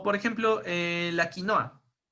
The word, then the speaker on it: quinoa: llaman hoy hay like quinoa no y de hecho la pronuncian más parecido a como lo pronuncian los guaraníes este los brandys perdón los este disolver los que ellos quinua vale aquí en méxico pensemos